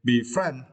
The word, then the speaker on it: befriend: and for this course you need to start the second syllable friend okay be friend okay be friends is